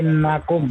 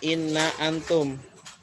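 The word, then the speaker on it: إنكم: Ditambah Innakum. nasab. Innakum. Innakum. Artinya? Terus sungguh kalian. Iya. Boleh nggak dibaca inna antum? Tidak boleh. Tidak boleh karena bersambung.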